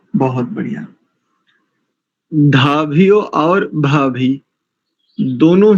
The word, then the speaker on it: धीभ्यः: लोग धीव्य ऐसा करेंगे, ये दोनों गलत है। धीभ्य सब लोग इसका ध्यान रखें, क्योंकि दोनों ही वर्ण महाप्राण वाले हैं। ध और भा यानी इनमें अधिक प्राण का प्रयोग होगा उच्चारण करते समय। ठीक है, बहुत अच्छा। इनके बाद अमित माने जी से सुनते हैं। जी ओम सन्नः पवस्व शंगवे संजनाय संवर्ते संराजन् नौषधिभ्यः। धीभ्यः, धीभ्यः ऐसा, दिभ्यः और समर्वते, शर्मवते।